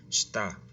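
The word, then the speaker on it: した: Pareciera ser que esta primera letra shi se pronuncia shita, ¿verdad? Pero recuerda que la letra shi tiende a ocultar la letra i en ciertas ocasiones. Entonces, shita, debajo, abajo.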